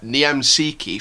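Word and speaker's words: Niemczycki: to go with uh niem sikhi from from krakovia that's how it's pronounced um because that's like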